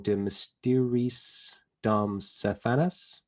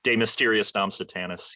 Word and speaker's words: De Mysteriis Dom Sathanas: me if I'm wrong, De Mysteriis Dom Sathanas? Did I say that right? Something like that, yeah. Something like that. De Mysteriis Dom Sathanas, yeah. Okay. I just say it like an American.